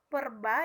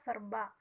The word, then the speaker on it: verba: diucapkan menjadi P misalnya pengucapan pada kata perba yang seharusnya itu adalah verba yang kedua dua verbal